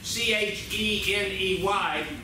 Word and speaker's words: Cheney: It looks like the spelling of the word Cheney, C-H-E-N-E-Y, but it is Cheney, Kansas. Everybody repeat after me, Cheney, Kansas.